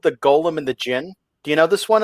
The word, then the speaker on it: Jinn: Yeah, and Jinn is spelled D-J-I-N-N, like the traditional spelling. The Golem and the Jinn. Yeah, it's for some reason, my brain likes to call it the Jinn, even though that's not proper.